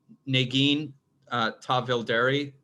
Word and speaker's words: Negin Tahvildary: So our next speaker is Negin Tahvildary. Am I close? Yeah, perfect. Nobody has ever pronounced my first and last name so well.